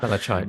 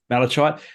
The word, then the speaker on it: malachite: Malachite, yep. Malachite.